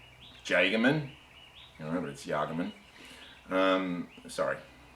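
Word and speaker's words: Jagemann: so I was using our jaegerman or if you're annoyed States and can't pronounce things properly it's Jay gammon remember that's the argument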